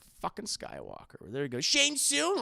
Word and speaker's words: Shang-Chi: spelled the same way they call them Shane soon I know they don't call them shun soon they say his name is Shane soon I know what his